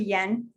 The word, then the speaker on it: Danh: pronouns he his um spelled d-a-n-h but pronounced yen like the japanese currency um asian-american parents are